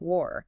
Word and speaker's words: were: Where like the place has that air sound where. But were the past tense of be sounds more like were almost like the start of work. Were where.